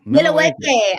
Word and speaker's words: Milwaukee: Milwaukee. I love it. The way you say it correctly. That's how the Native Americans, that's what they call it.